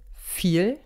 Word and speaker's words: viel: zum beispiel sehr oft mit dem buchstaben v der wird oft nicht immer aber oft wie ein f ausgesprochen so haben wir das beispiel viel und viel viel kennt